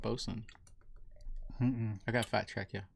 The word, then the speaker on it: boatswain: But it's pronounced bosun. That's spelled boatswain? The word boatswain is pronounced bosun, as in bosun's pipe.